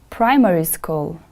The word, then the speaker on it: primary school: not 11 years old primary school the stress is on the first syllable repeat after me please primary school primary school very good next word secondary